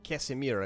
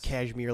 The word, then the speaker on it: Casimir: Mall vladislav Victor palaski Casmir I believe is how his name is fully pronounced not cashmir like the sweater a Polish nobleman Soldier